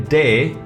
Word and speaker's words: D: this one is say day so what would be d because in cdb says say day d is pronounced as day like in dam if you remove m and n that's damn